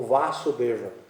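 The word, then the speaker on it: Vāsudeva: E é conhecido como Vasudeva, que é a primeira sílaba alongada, que é tipo Vasudeva Júnior. A gente não põe um JR quando é Pedro Júnior e tal, né? Então, eles põem um alongamento na primeira sílaba da palavra Vasudeva.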